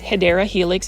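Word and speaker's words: Hedera helix: I mean, you can see um this one is our first Hedra Helix or the wonderful ivy. Um the correct way to say it is Hideera Helix.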